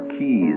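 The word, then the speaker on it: quays: of masts at the CZ of New York or Keys as it's better pronounced and Brooklyn and the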